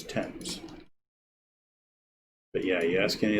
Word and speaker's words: Thames: It's not Thames, it's Thames. But yeah, you ask any of the locals, Thames.